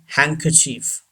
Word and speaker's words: handkerchief: न का साउंड है, और आर नॉट प्रोनाउंस्ड. आर भी नहीं प्रोनाउंस्ड होगा यहाँ पे. दोबारा सुन लीजिए. हैंडकरचीफ. हैंडकरचीफ. D should be silent.